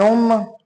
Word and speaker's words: homme: Un homme, a man. H is silent. That is why homme.